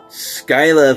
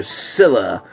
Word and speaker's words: Scylla: Kong: The New Empire Skyla figure or Scylla, however you prefer to pronounce it. Um yeah, I prefer to pronounce this as Skyla.